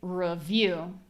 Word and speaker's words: review: For example, I say review and develop. So in my case, I pronounce those both as schwa.